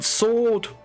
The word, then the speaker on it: sword: pronounce it sword Lord you don't pronounce the W in sword oh God we thank